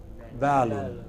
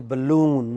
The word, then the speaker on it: balloon: But wrongly we say balloon. It is not balloon. It is balloon.